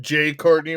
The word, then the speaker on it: Jai Courtney: say his name correctly jai courtney i believe it's pronounced j courtney wayne uh yeah i don't speak to english there's an i not a y thank you very much